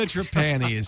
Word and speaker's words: Trapani: I say it it's okay too traany Gina trapan is here I'm sorry Gina I've been mispronouncing her name for 94 episodes no no